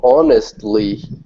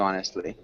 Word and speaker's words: honest: if I treat you honestly you must treat me in the same way okay good and Julieta can you repeat honest honest yeah at least in the US we don't pronounce the h um yeah again British